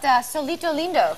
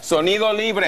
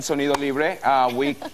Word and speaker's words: Sonido Libre: I got to ask you about Solito Lindo. Sonido Libre. Did I say it right? Sonido Libre. We did an amazing, amazing event yesterday. That's your band, of course. My band, Sonido Libre.